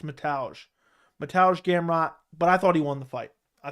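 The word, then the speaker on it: Mateusz: the loss to um Matthias or hold on how do you pronounce it I forgot how you pronounce I forget I always want to say Matthias but it's something else mataj it's metage metallic gam rot but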